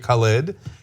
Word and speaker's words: Khaled: and the actual pronunciation of DJ Khaled's name is DJ Khaled, because it's like at the beginning of every song he's ever been on. Yes. He doesn't. You have to shout it.